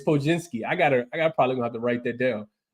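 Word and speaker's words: Podziemski: Podzinski is how you pronounce his name. He got like 47 letters in his name, so I always butcher it. But yeah, you're right. It's Podzinski.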